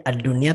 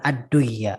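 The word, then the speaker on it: الدنيا: idgham di situ, tapi ad-dunya tetap dibaca dengan idhar, ad-dunya, bukan ad-duya, ya, bukan ad-duya, ya, karena sebetulnya itu harusnya idgham, tapi dia dibacanya idhar karena pengecualian.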